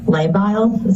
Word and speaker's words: labile: The next sentence here says her mood has been labile. Am I pronouncing that correct?